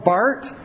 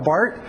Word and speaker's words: Barth: Karl Barth, his name is Swiss, so you don't pronounce the R. Karl Barth. Karl Barth, 1886 to 1968.